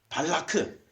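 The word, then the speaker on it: בָּלָק: 자, 그러면 모압 평야에서 이스라엘 백성들이 딱 진을 치고 있으니까 그 백성들을 두려워한 이 모압 나라의 왕 발락이 우리는 발락 이렇게 하는데 실제 이름이 발라크예요. 발라크.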